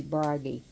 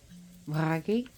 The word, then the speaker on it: Bragi: on the godi uh if you can't roll your RS it'll be brgy but his RS are rolled Bry and he is the